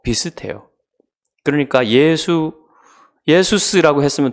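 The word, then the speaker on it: Ἰησοῦς: 예호슈아는 헬라어로 예수스라고 읽습니다. 그러니까 여러분 그 영어로는 예수님 지저스죠.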